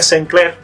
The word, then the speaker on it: Sinclair: Entonces llega Arthur Sinclair, que se pronuncia Sinclair, se pronuncia Sinclair.